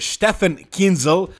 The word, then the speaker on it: Stefan Kinzel: All jokes aside, James Hollingshead started working with Stefan Kinzel. That's the correct way to pronounce his name, but we can call him Stefan or Stefan, it's easier.